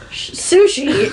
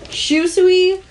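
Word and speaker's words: Shusui: not helping Oh sushi it's not sushi is I believe it's pronounced Shu Suey and it's one of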